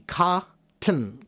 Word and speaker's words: cotton: Cotton. Cotton. Cotton. Cotton. So, so say it slowly. Cotton. Cotton. Cotton with a hard T. And the more you speed it up, those hard T's get cut in half.